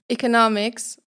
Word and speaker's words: economics: on the second syllable, and in the word "economics" the stress is on the third syllable.